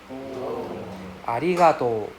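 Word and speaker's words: ありがとう: So, remember, it's a long O sound for arigato. It's not arigato, right? Arigato, right? You drag out the O sound at the back, and it is a RI sound.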